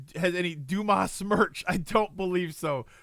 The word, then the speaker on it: Dumas: bosses right so uh oh it's pronounced dumbass well I don't think the guy that wrote The Three Musketeers wants it pronounced that way um right that was his name Dumas right wasn't that his name um but yeah